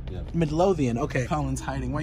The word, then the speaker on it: Midlothian: How do you pronounce the city that this is in? Dallas. No, it's isn't it? Midlothian. It's Midlothian. Yeah. Midlothian.